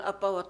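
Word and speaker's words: אבא: 히브리어로 말할 때 아빠라는 말이 오늘날 우리가 쓰는 아빠와 똑같은 발음으로 아빠였어요. 친근하게 아빠.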